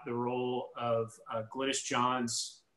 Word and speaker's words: Glynis Johns: Sara, he's wondering how accurate or not the role of Glynis Johns, am I pronouncing that correctly, Sara? I think so. Yeah, that sounds right.